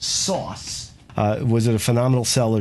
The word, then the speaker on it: SOS: The operating system, you know, SOS, it was supposed to be pronounced sauce.